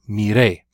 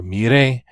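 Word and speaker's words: miré: that you stress that last syllable mirre if you don't stress the last syllable it sounds like a command in Spanish if you say meeting that means you're telling somebody to look so you're me day or mirre means I looked operandi I learned as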